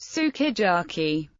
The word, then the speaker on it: sukiyaki: phonic lee for example the japanese word sukiyaki is pronounced sukiyaki this may sound like skid jockey to an English speaker but the lips can be seen compressing for the you something similar happens in